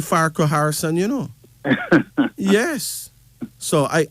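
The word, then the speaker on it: Farquharson: n o n okay everybody put it in syllables is Fai is far right yeah q u is cool right yeah h a r is her and so and the Sun so yeah it's really far Co Harrison you know yes so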